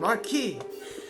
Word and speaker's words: Marquis: It's pronounced Marquis.